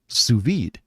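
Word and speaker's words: sous vide: it's suid okay sue the word of the day is suid Sue s o u s v VI I i d e suid French so in suid you you take your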